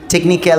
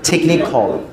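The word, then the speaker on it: technical: টেকনিক্যাল না, উচ্চারণটা টেকনিখল।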